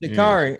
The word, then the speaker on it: Sha'Carri: So how you pronounce? How you say that again? Sha'Carri Richardson. Sha'Carri.